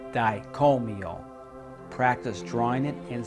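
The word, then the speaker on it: Dai Ko Myo: is the Reiki yusui master symbol it is pronounced dicomio practice drawing it and saying it for several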